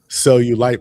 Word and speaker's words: Sell You Light: Cell you sell you light podcast. Yeah yeah yeah it's pronounced the same way as like you know like cellulite but yes as as the cheese on the booty.